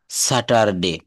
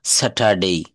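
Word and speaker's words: Saturday: ফাট স্যাটারডে আমরা সাতটা বারের নাম বলতে গেলে প্রথমেই আসে স্যাটারডে নো স্যাটারডেই স্যাটারডেই অর্থাৎ এখানে আরটা কিন্তু সাইলেন্ট থাকবে ফারস্ট ফাস্ট বলি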